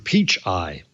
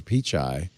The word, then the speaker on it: Pichai: as a republican congressman called him mr peach eye he how can you not how can you not know who's sundar pichai and how to say his name that's just rude that's poor briefing on the part of the staff mr peach mr pichai and then uh finally